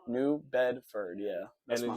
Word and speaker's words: New Bedford: How do you pronounce it? New Bedford? New Bedford, yeah.